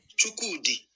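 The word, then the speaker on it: Chukwudi: on his Wikipedia page, like it has like a pronunciation. So we'll go right here. Chukudi.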